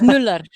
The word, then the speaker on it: Mueller: So it's Mueller. That's how you say it, Mueller.